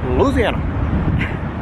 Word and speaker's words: Louisiana: This week we're in Baton Rouge, Louisiana. That's how you say it. Louisiana. Yeah, exactly like it. Yeah. You're trying to get it as fast as you can in as few syllables as possible.